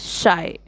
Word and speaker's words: Scheu: of the poet's name answer the correct pronunciation of the poet's name is Shai question number c answer